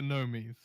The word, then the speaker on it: Gnomies: It's the Gnomies. I refuse. Silent G.